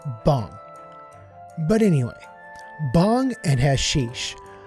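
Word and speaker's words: bhang: Now, just really quickly, I'm getting ready to call this bong, but in the past I've said bang, and that was the incorrect pronunciation, and I apologize for that. It is actually bong.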